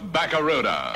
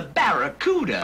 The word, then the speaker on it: Barracuda: baruda hey man the name of the Plymouth Fastback is the Barracuda I can't pronounce bakara yeah well look man try this say ba ba ra ra c c da da now put it all together ba rck da uh well it ain't Barracuda man but I think